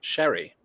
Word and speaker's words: Cherry: Tiger says my aunt's name is Cherry, also, except it's pronounced Sherry.